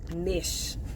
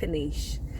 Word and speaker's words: knish: And I thought it was niche. I said, is it niche or nice? And she was like, knish. I was like, oh, so I'm way off.